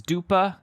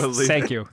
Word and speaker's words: Dua Lipa: Is Dupa, is that a singer? Dua Lipa? Yes, Perhaps. Dua Lipa.